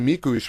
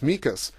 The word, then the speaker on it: Mikuš: And, even a great couple examples, like Juraj Mikuš, when he first came, was Mikas.